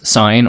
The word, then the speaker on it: sgn: as sgn of x pronounced as sine or sigma is defined like this